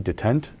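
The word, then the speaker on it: détente: Just after things had gotten back to like maybe detente, how do you say that word, in the Capitol?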